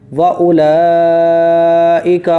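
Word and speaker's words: وأولئك: वाउलाई का, देखिए हमजा वाव पे ऊक नहीं पढ़ा जाएगा, ये वाव पर कुछ भी नहीं लग रहा है, इसीलिए वाव रहेगा साइलेंट। वाउलाई का हुमुल मुफ्लिहून, मुफ्लिहून, बढ़िया, ठीक है बढ़िया।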